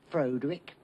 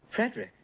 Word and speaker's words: Frederick: Frederick frogenstein the Frankenstein Frankenstein you're putting me on no it's pronounced Frankenstein do you also say Frode Rick no Frederick why isn't it Frode